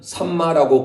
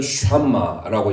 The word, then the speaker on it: 샴마: 우리 성경은 삼마라고 번역됐지만 원래 히브리 원문은 쉰이에요. 쉰. 그래서 샴마라고 읽어야 돼요. 원래는 여호와 샴마예요.